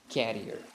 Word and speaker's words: carrier: and now what about this word this is carrier so if you are somebody who pronounces it as carrier so this pronunciation is